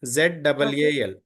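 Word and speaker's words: ذال: do do th yeah here small correction z a l zal z well yeah excellent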